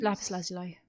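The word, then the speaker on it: Lapis Lazuli: I think the one that most people associate with Egypt is Lepus Lazuli. I don't know how do you say that in English? Yeah, Lepus Lazuli or Lazuli. Okay. It varies.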